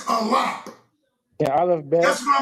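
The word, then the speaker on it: אלף: The word ain't Aleph, the word is Alap.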